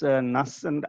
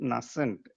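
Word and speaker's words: nascent: So it is nasent. I used to pronounce it nasent. N A S C N T.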